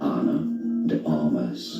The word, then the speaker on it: Ana de Armas: the Aras Anna the Aras now in English an the armas is how it's generally said Anna the armas